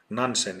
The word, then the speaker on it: Nansen: Nansen is his name pronounced in Japanese.